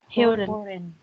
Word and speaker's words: hören: Or Hören. Hören. Not hören. Not o-ew. Hören. Huh? Hören. Hören. Hören. This O has actually 2 dots over its top.